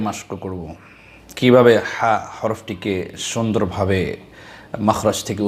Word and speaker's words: ح: প্রথমে আমরা হায়ের মাখরাজ এবং সিফাত সম্পর্কে জানি, এরপরে আমরা উচ্চারণের দিকে যাব। ২ নম্বর মাখরাজ হলকের মধ্যখান হইতে আইন হা দুটি হরফ উচ্চারিত হয়।